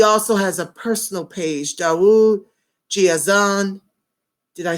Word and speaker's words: Daud GeAzan: of Atos he also has a personal page dawa Gia's on did I say it right correct thank you